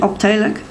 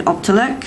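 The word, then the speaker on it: Optelec: know you pronounce it if it's dutch I would pronounce it optac but I you may want to say OPAC or o p t e l e c anyway that's the company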